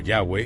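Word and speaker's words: Yahweh: Y, que se pronuncia a menudo como Yahweeh y se traduce como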